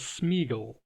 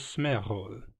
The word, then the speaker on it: Sméagol: Based on its spelling, you may read the aforementioned name as Smeaggel and so wonder why I pronounce it as Smearhol.